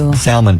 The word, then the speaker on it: salmon: having like salmon patties you called it salmon because it's spelled with an L why is there an L in it if you don't say salmon it's in the face